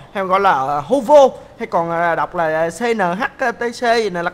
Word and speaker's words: Howo: nó là con xe đến từ thương hiệu hổ vồ Hay gọi là Howo hay còn đọc là cnhtc gì Là cái gì tôi cũng